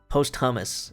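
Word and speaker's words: Posthumus: His name was Postimus. Posthummus. It's like It's spelled Pthmus.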